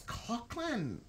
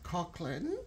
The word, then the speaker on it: Coughlan: you would say that so it's Cochran that's yeah absolutely so that's interesting because it's that sounds like a k to me but it's a you know you you see yeah so yeah Cochran Mary yeah that's me